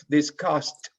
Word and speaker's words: discussed: It's discussed, discussed. It's like a final T, Discussed.